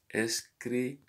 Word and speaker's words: escritorios: Escritorios. It's not tarios, but torios. Escritorios.